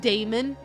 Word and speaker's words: daemon: I pronounce it daemon, but I think you're actually supposed to say demon.